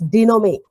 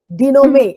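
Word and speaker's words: dénouement: the problem and it is also called as denome denome n and T is silent denome is a French word okay okay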